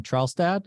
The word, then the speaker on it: Trelstad: how am I doing with your last name Charles dad am I pronouncing that correctly got it got it perfectly